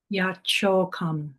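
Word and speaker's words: यच्छोकम्: Now yet chokam is how it comes out. Yachokam. So it's a distinctly double cha, but it's also an aspirated yachokam.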